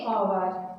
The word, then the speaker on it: hour: अब देखो HOUR ओवर, HOUR, इसे हॉवर नहीं बोलेंगे, इसे क्या बोलेंगे, क्योंकि इसमें जो H होगा ये साइलेंट रहेगा, और इसे बोलेंगे ओवर, ठीक है।